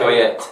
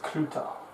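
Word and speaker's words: Cloete: Like Cluedo. Cluedo. Like the same sound. Clue. Then tar. Clutar. Spelt, as you would say. Cloyette. Cloette. But it's pronounced Cluter.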